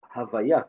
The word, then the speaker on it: Havaya: Elohim, which is the judgment and the strength, and Yud-Kei Vav-Kei, which we pronounce Havaya or Amonai, but the letters are Yud-Kei and Vav-Kei.